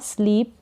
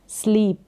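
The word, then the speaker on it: sleep: स्लीप स्लीप करना सोना स्लीप तो इसको स्लिप करके प्रोनाउंस नहीं करेंगे अगर स्लिप होता तो यहां पर डबल ई की जगह आई होता लेकिन डबल ई है बड़ी ई का साउंड स्लीप ना कि स्लीप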